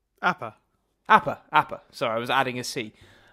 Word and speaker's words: Appa: Apaka? Appa.